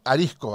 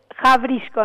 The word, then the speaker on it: Hawryszko: muy buenos días, y digo y pregunto, Arisco, así. días, es Jabrisco en realidad, Jabrisco. En polaco, pero sí, acá lo pronuncian como quieren, en realidad está bien, ya estamos acostumbrados.